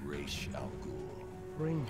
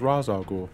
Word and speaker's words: Ra's al Ghul: His name is Raish Al Ghul. I thought it was Ra's al Ghul. No, that's something the movie made up. It's only whenever Conroy's voicing him that he pronounces it that way.